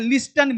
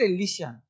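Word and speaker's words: listen: प्राय साइलेंट होता है अब इसे बहुत लोग बोलते हैं लिस्टन मी लिस्ट लिसन बहुत लोगों को देखा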